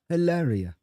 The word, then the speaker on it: Hilaria: Her name is Hillary Baldwin. Okay. But she goes by Hilaria.